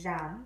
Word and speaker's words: Jeanne: is my brother and her name is Jeanne everybody well that's what they called her but in French it's John so I got my